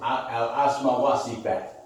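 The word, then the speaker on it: Asma wa Sifat: I did it like that so you better know how to pronounce it. Oh. It's Asma Wasifat.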